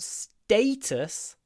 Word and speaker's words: status: he cares more about status than money status status status just remember it's an a status it's not status everybody will understand you if you say status and they will never correct you but it's not status